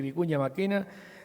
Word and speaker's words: Vicuña Mackenna: la invencible cerca de salto bueno se dice vicuña mackenna técnico ya máquina con traje 1700 kilos de